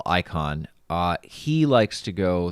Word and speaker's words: Icahn: investors pronouncing it wrong it's not i ichan it's not el la chan or whatever it's icon it's carl icahn uh he likes to